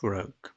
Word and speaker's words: rogue: এরপর 2 নম্বর প্রশ্নে দেওয়া হয়েছে which word is opposite of রগ। এই রগের আমাদের অপোজিট ওয়ার্ড বলতে হবে। তো এটা দেখছো তোমরা ROGUE, এই শব্দটার উচ্চারণ তোমরা রগ করবে।